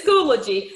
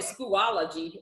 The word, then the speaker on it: Schoology: platform will be schoology right yes that's correct pronouncing that the right way correct it's schoology i was calling it schoolology but i still hear people saying that it's